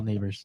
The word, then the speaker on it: Nabers: or Malik Neighbors. Dude's last name is Neighbors. That's kind of crazy. No, it's spelled Nabers, not actual neighbors. Not spelled wrong. But it's still pronounced Neighbors, isn't it?